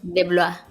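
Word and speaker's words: DeBlois: Oye, Coti, quería decir que un par de años después de estar entrevistando ¿cómo se pronuncia? ¿De Blois? ¿De Blois? De Blois.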